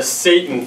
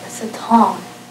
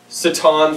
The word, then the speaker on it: Satan: now on my left here we have the Satan family wa it's pronounced saton saton family okay we have Lucifer Lucifer Lucifer Delila